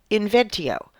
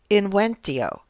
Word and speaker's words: inventio: The first step to preparing a speech is inventio or, as it would be pronounced in Cicero’s time, “inwentio”: invention, where you brainstorm what you want to talk about and your approach to the topic.